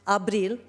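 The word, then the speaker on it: ապրիլ: in the Armenian language the month of April pronounced abil means to live and education we feel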